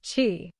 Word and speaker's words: Qi: Technology is one of the wireless charging standards alongside Qi, pronounced Qi.